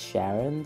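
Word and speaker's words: CYaRon: Now, it looks an awful lot like crayon, but it's not. At least the letters are switched. And the Romaji on the wiki says Sharon, so we're going to be pronouncing it like that.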